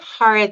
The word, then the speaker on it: Kharatyan: last name correctly haran do you pronounce the k no the K is silent it doesn't make any